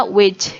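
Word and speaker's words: wedge: Lalu ada ini V terbalik ya, dibacanya wage ya. Wage itu W-E-D-G-E ya, wage ya.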